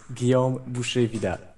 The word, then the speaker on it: Guillaume Boucher-Vidal: everybody can understand all right my name is Gom bu VI Gom yes I I I've written that down